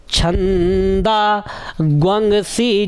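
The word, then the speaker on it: छन्दांसि: तस्माद्यज्ञात सर्वहूतऋचः, सर्वहूतऋचः सामानि जज्ञिरे छंदा ग्वंगसी जग्गिरे। जो लोग आज वीडियो को देख रहे हैं पहली बार, उनके लिए लिख दूं कि इसका उच्चारण ग्वंग होगा, ठीक है।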